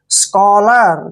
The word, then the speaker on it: scholar: जब भी CH के बाद O आता है तो CH का उच्चारण कै करते हैं, ठीक है।